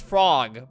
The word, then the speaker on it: Frogge: anyways there's frog frog frog it's actually it's pronounced frog by the way i was in the uh